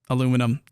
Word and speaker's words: aluminum: rebalanced the production lines containing bauxite and aluminium aluminum however it's pronounced uh which includes alternate recipes so uh